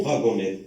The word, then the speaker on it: wagonnette: La même chose, au dernier mot, on prononce wagonnette, wagonnette. Alors, combien de syllabes dans le mot wagonnette?